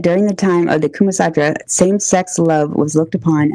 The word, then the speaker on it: Kama Sutra: Maybe I'm saying it's Kumasatra or Kamasutra.